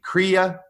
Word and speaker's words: kriya: other spiritual practices Eastern spiritual practices in the kriya yoga tradition did I pronounce that correctly Philip you did okay um